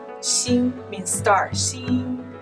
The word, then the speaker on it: Xing: Yeah, like X-I-N-G. Xin means star.